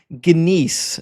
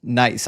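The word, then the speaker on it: gneiss: Good to see your friend says Doug is ginise, a type of rock pronounced nice.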